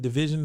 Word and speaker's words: DVSN: so that's how you pronounce their name? Yeah, Division.